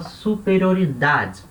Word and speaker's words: superioridad: detalhe com a pronúncia esse de no final ele é pronunciado tá e não é mudo você não fala só superior lidar você fala superioridade da acender ele é falado é bem curto mas é falado então a gente viu